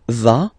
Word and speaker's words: va: Basically, you pronounce it like for the tu, because you don't pronounce the final S, okay? Il va, elle va, okay?